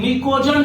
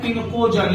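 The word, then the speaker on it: pnictogen: अगला बच्चों ग्रुप 15 को क्या कहते हैं बच्चों, निकोजन कहते हैं। क्या कहते हैं, निकोजन। इसको इंग्लिश में कहते हैं पिनकोजन, यानी कि पी साइलेंट हो जाता है, फिर याद रखना है लेकिन निकोजन।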